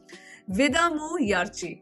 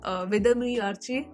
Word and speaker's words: Vidaamuyarchi: So this movie is called Vidamu Yarchi. I hope that's how it's pronounced. Vidamu Yarchi, yeah, Vidamu Yarchi, because it's double A.